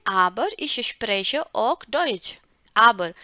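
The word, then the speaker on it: aber: हम कहते हैं लेकिन, इसका उच्चारण कैसे रहता है? आबर, आबर। कई लोग जो है रा बोलते भी नहीं है, आबर आबर करके बोलेंगे ना, आबर इश स्प्रेche auch डॉइच।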